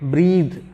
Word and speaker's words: breathe: Yes, this word is it is pronounced breath, not breathe, breath. This is indeed breathe, breathe.